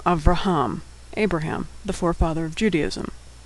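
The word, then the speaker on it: אברהם: It goes right from the V sound to the R sound. Avraham. The shava there is silent.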